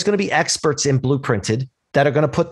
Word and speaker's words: Blooprinted: It's called Blooprinted, and it's spelled differently than the color blue. It's B-L-O-O printed.